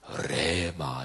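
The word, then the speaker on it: ῥῆμα: 발음을 정확히 하면 레마 이렇게 하죠. 레자를 막 입속으로 깊이 이렇게 해서 발음해야 되는 건데 어쨌든 레마.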